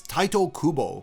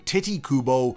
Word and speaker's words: Tite Kubo: So, the correct pronunciation in Japanese is Tito Kubo. In English, with the way it is romanized, it should be pronounced Tit Kubo. But people seem to really enjoy calling him Titty Kubo or Tite Kubo.